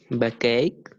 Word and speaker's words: backache: the pronunciation who's Anthony backache yes back ache ache this CH sounds like case and we say a